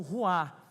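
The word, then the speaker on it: רוח: É um termo hebraico que se se pronuncia como ruá.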